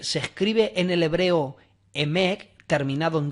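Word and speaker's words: אמת: escribe en el hebreo Emek, terminado en T, E-M-E-T, Emek, terminado en T, vuelvo a repetir, pero en una forma fónica, para pronunciarlo, vendría a ser Yemek.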